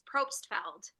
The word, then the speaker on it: Probstfeld: Now, am I pronouncing your last name correctly? It's Probstfeld.